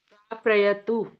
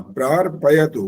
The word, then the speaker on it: प्रार्पयतु: प्राप्रयतु। दोबारा बोलो। प्राप्रयतु। गलत है भी। सुषमा सरदाना बोलिए। प्रार्पयतु। हाँ, प्रार्पयतु, प्रार बोल के बाद पयतु वो पूरा आना चाहिए, और र प्रार, ये र पूरा नहीं कर सकते।